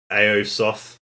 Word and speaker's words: Aosoth: was gonna say about older stuff and i mispronounced the band's name uh when i said it earlier is aosoth i think is a-o-s-o-t-h okay excuse me um